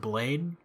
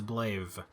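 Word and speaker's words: Blaidd: this guy a lot i also would have pronounced his name wrong because anytime i see b-l-a-i-d-d i pronounce it blade but if he said his name is blave or something to that effect giant pot man be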